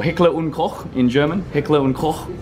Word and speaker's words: Heckler und Koch: Heckler und Koch, you have to use the accent, or Heckler and Koch in English.